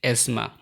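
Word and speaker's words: asthma: শব্দের শেষে পরপর 3টি কনসোনেন্ট সাউন্ড থাকলে মাঝের টিএইচ অনুচ্চারিত থাকে। তোমরা একদম প্রথম শব্দটি দেখতে পাচ্ছ বা পাশে অ্যাজমা।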